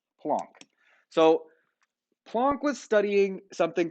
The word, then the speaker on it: Planck: a scientist named max plunk yes plunk okay looks like Planck it's pronounced plunk so plunk was studying